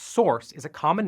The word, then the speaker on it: src: src pronounced source is a common name for the folder that holds uncompiled code in a project.